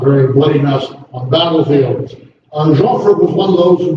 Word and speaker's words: Joffre: The first commander of the French armies was General Joffre, J-O-F-F-R-E. Sometimes it's pronounced with the R-E on the end of it.